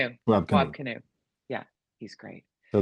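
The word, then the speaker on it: Wab Kinew: gone, it'll be the Ang- how do you pronounce Wab his name? Canoe. Wab Wab Canoe.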